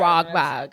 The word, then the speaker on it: Wahlberg: I feel like I say his name wrong. You've been saying it wrong the whole time. Wahlberg.